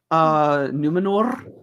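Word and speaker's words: Númenor: I also didn't mind the design of Numenor. Why are we rolling our R's? Because that's what because Galadriel does it all the time. Numenor. Yeah, she pronounces it Numenor.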